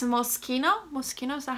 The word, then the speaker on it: Moschino: Moschino, is that how you say it?